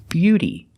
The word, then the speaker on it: beauty: Together, beau, beauty, and beautiful. We see that T in both of these words is pronounced like a fast D.